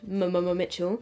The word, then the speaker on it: mmmmitchell: it's not just called mama mitchell and the reason i say it like that is because that's his instagram name it's got like three m's and then mitchell so it's like mama mitchell the eyeshadow palettes were